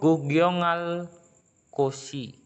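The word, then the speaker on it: 구경할 곳이: Jadi bukan dibaca giok. Kenapa? Karena ada real. Real di sini. Itu realnya itu yang akan. Itu tata bahasa. Ingat, bacim yang berakhir dengan real dapat mengubah konsonan tunggal menjadi konsonan rangkap.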